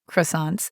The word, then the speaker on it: croissants: Here, coûte ends in ENT, and croissant ends in S. But we don't pronounce those letters at the end, which we know sometimes happens in French.